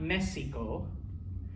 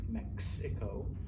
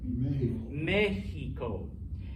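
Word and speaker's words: México: there's the prime example it's not mexico it's not mecco i mean you say that in english i think mexico but in espanol what is it mexico in aztec words the x sounds like a j which what does a spanish j sound like nh okay now once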